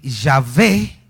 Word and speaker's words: Yahvé: se las agregaron pero los estudiosos del hebreo piensan que yahvé era la pronunciación más cercana a esa pronunciación original por eso algunas Biblias